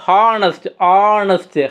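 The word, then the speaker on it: honest: ஏன்னா நம்ம வந்து ஆனஸ்ட்டு ஹச் சைலண்ட்டு, நம்ம வந்து ஹானஸ்ட்டை ப்ரொனவுன்ஸ் பண்ணும்போது ஹச்சை சைலண்ட் ஆக்கி ஆனஸ்ட்டு ஓ சவுண்டு ஆனஸ்ட் அப்படிமோ. அப்போது ஓ தான் இங்கே பார்த்தோம் அப்படின்னா வந்து எடுத்துக்கணும் ஆனஸ்ட் ஓ சவுண்டு.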